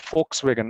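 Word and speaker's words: Volkswagen: ஆனால் நம்ம எப்படி ப்ரொனவுன்ஸ் பண்ணணும்னா ஜெர்மன் லாங்குவேஜ்ல ஃபோக்ஸ் வேகன் அப்படின்னு சொல்லணும், ஏன்னா வி சைலண்ட் எஃப் வரும்.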